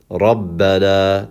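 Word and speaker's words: رَبَّنَا: So we're going to say Rabbana. That is actually how you're going to pronounce that word, as if there was two bas.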